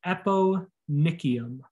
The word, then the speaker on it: eponychium: this thickened skin this thickened skin is called the eponychium apo like epi means on top it's on top of the base of your nail nickium nych is referring to your nail it's a hard c hard k sound nickel epo nicu the